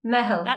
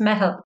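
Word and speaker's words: meitheal: Mehel. It's an Irish word. So yeah. I'll excuse you for not being able to pronounce it. It's not easy to pronounce, but it's Mehel.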